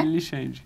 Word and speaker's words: Lichand: Tá bom, eu perguntei aqui pro Guilherme, é Lichand? Ele não, Lichand. É isso, né? Lixande. Lixande, isso. Lixande. Eu falei, poxa vida, mas o D se pronuncia.